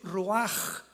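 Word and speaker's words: רוח: La palabra para espíritu en el hebreo es la palabra que es roaj, que se escribe ru con ch, pero repito, ese pronuncio pronuncia como J. Roaj.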